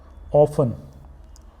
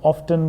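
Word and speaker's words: often: Next is ऑफन, ऑफन भी होता है, ऑफन भी होता है और लोग इसको ऑफ्टन भी बोलते हैं।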